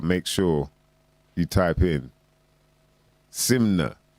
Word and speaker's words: SYMNNKNA: sure you type in simnet i've realized the simna because here you can silent yeah silent k you know what i